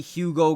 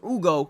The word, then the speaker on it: Hugo: And I saw a lot of good things um from not only Hugo Gonzalez or Ugo Gonzalez, I believe the age is silent, but also Jordan Walsh looked really good.